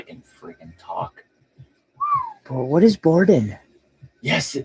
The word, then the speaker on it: boudin: What is Borden? Yes, it's Boudin.